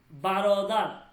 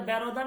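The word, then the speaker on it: برادر: তারপর হচ্ছে পেদার বাবা বারদার উচ্চারটা বারদার না কিন্তু বা রদার বারদার বারদার মানে মানে ভাই।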